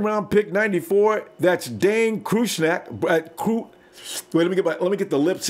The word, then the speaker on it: Cruikshank: Cruikshank. Yeah, there you go. Think about a crook and then shank.